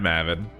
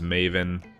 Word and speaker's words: Mavin: That is how I pronounce it. I guess there was some confusion. Some people thought it was Maven, because that's actually like a term, and I think it's like a business.